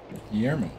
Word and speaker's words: Guillermo: you pronounce my name can you say guillermo yerman that's how you pronounce it right guillermo guillermo galermo guile